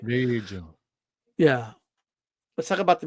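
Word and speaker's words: Vergil: And just to picture that long torso of his and what Virgil Ortiz would do to it.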